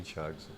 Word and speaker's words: Thiagson: mas sou mais conhecido nas redes sociais como thiagson thon e a gente estava conversando aqui nos